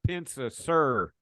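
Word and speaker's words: Pensa-Suhr: Well, let's move into this the second part of the question Joey Edwards asked about the Pensa Sir. Did I pronounce that right?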